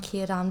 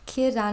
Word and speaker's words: Círdan: Correctly, because it's just like I've tried to get the rolled R's on Círdan before, but it just doesn't work for me. So Círdan is the best that I can do.